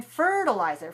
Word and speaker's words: fertilizer: And in fertilizer, fertilizer stressed on the first syllable. So the second syllable is also weak.